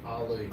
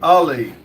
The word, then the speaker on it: Ali: Uh Ali says, "Bro, you always pronounce my name wrong. Haha. Remember the boxer Muhammad Ali." Ali. Ali.